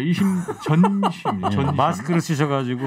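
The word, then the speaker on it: 이심전심: 이심점심 이걸 이제 바꿔가지고 이신 송심이다 이렇게 지금 주장을 하고 있어요. 점심이 아니고 전심. 네, 이심 전심.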